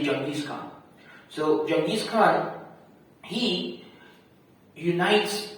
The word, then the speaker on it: Genghis Khan: Genghis Khan, or as some people mispronounce his name, Genghis Khan. Right? It's actually Genghis Khan.